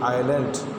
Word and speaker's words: island: Then you can see islands, ISLAND, island. Here the word, in the word island, S is silent, so you have to pronounce island.